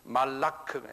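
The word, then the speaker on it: מלאך: 그 그렇게 해요 근데 히브루 사람들 유대인 사람들은 그 발음을 달려요 말라라 그래요 그 사람들은 말라크 m m k부터 말라크 하는 바람이 있어요 뒤에요 말라크 이렇게 말해요 이이 뜻은 뭐냐면 메신저라는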